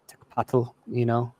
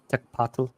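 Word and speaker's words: tecpatl: So, like a knife or made of obsidian, tekpatl, tekpatl, patl, that TL sound still gets me.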